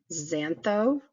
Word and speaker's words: xantho: term for red redness is arthro yellow is zantho which is spelled x a n t h/ o for